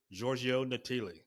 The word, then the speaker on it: Giorgio Natili: As you heard in the intro, our guest today is Italian native Giorgio Natili.